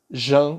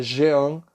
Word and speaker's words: Jean: escreve ousmane sembene e Jan que é Jean rouch que se escreve